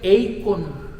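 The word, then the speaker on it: eikon: usted lo entienda es una palabra que se pronuncia eon e i K o n eon inclusive hay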